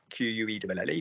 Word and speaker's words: quel: Q-U-E-L-L-E, because heure is feminine. Quel est ton restaurant préféré? Q-U-E-L. Yeah. Quel is pronounced differently. It is pronounced the same, but written differently.